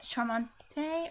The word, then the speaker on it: charmant: Charmante? Or did you say... Charmant. Charmant. Jamie Charmant. underscore Like BGJ SH? says LUL. But CH is not always pronounced as SH. It depends a bit on the situation.